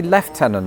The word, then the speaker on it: lieutenant: In America, it's lieutenant. And you're probably thinking, "Oh, I bet the Brits say lieutenol or something very French." No, we say left tenant for reasons that I